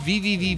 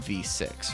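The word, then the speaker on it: VVVVVV: So I guess what someone told me that Terry Kavanaaugh pronounces it just as V, right? I don't know. It's I I've just always known it as just saying the letter V six times or or calling it V6, right?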